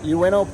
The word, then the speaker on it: Ueno: Ueno Park. Ueno Park.